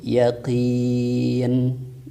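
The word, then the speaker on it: يَقِين: Jadi baik yakina, yakini, yakinu ketika berhenti berarti dibacanya sama, yaitu yaqin.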